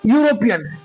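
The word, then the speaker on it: European: इसका उच्चारण क्या होगा यूरोपियन य आ रहा है ना यूरोपियन क्या-क्या आ रहा है प्रथम को लिखिए य आ रहा है ना य य किससे होता है य होता है वाई से और वाई क्या है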